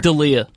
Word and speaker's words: D'Elia: D'Elia.